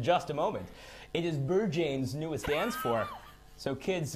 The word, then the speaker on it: Berghain: It's the Bergane. Oh, Bergane. It's Sorry, the I thought you Bergane. said Bergane. It is one of the most famous clubs. I thought it was Clubs, pronounced even. Berkheim. No, it's Bergane. no, absolutely Yeah. not. In fact, they hate it when you say it that way.